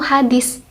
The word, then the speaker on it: hadits: seperti pada kata-kata berikut hadits belakangnya itu kan pakai Hai tapi pengucapannya itu hadis memakai huruf s nah seperti itu yang